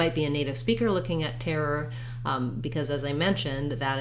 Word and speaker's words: terror: in the dictionary so terror terror you might find it easier initially to break it up tear er or build from the back er what you'll find though